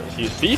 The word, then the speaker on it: Fefe: Fefe did, or Fefe, he says. It's like B, rhymes with BB.